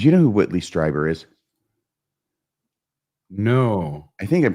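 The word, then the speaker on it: Strieber: you know who Whitley striber is no I think I'm pronouncing it correctly it's either striber or streber but I think it's striber uh he's an author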